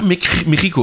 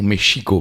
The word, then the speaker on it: Mexico: reviens de Mexico mais on dit pas Mexico alors c'est ça alors on peut le dire mais en langue maya en réalité on doit dire mchico parce que le X se prononce ch comme qui est un